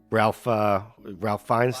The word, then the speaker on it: Ralph Fiennes: And Ralph Fiennes, that's how you say it.